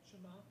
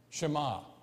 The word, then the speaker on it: Shema: How do you pronounce it, Zach? Shema. Shema.